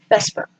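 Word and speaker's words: VSEPR: electron caramel propulsions and it's produced it pronounced Vesper so this is showing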